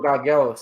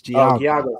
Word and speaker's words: Giagos: And then okay, there you Christos Gagelos, yeah. Yes, the Greek guy. Yes. Mm-hmm. Yeah, the Spartan, man. He's a solid Giagos, say it right. It's Giagos.